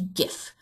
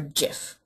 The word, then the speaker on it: GIF: next up we have we GIF or GIF depends on how you decide to pronounce that this is an